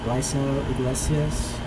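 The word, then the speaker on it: Raisel Iglesias: But then in the 9th, Raiso Iglesias, in the Spanish pronunciation of it.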